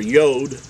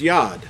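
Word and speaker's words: יוד: be pronounced the same this is referred to in modern Hebrew as the letter yo'd but in ancient Hebrew this letter really should be pronounced as Yad now I'm gonna read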